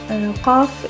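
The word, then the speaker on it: ق: Qaf is not found in English. It has the pronunciation of qa, is a little bit to the back of k. And it is made by the back of tongue rises and touches soft palate, so please try to pronounce it. Qaf, qa, qa.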